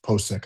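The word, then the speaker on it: Pocic: just or Pochic po Ethan Po Posek I think is how you say his name.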